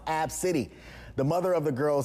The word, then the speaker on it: Abcde: name is spelled ABCDE 'the first five letters of the alphabet but it's pronounced ab city the mother of the